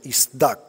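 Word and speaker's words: צָדַק: La palabra purificado en el hebreo es isdax, así se pronuncia, isdak.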